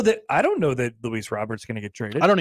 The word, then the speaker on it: Luis Robert: uh crochet Robert Jr I call him Robert Jr no Luis Robert that's how you say it oh it is it's not Rober no okay sorry I